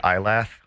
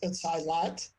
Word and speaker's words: Eylath: Do people say Ilath? Oh, yeah. But it's Eilat. It's Eilat.